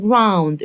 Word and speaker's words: ground: يلا بينا ناخد كلمات تانية زي كلمة على الأرض on the ground. الأو واليو أنطقها أو، يبقى ground on the ground على الأرض on the ground.